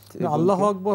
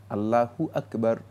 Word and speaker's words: আল্লাহু আকবার: বলে থাকি দম্মালা আরবিতে হা এর উপর পেশ রয়েছে এই পেশটাকে উচ্চারণ করতে হবে আল্লাহু সুতরাং আল্লাহ আকবার মানে